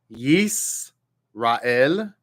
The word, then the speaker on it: Yisrael: that very same letter, it makes, instead of a sh sound, it makes a s sound, like an S sound. Therefore, line 2 would be Yisrael, Yisrael, Yisrael.